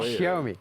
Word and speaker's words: Xiaomi: Xiaomi, exact. il faut s'appliquer pour bien prononcer le nom. Hein. Xiaomi.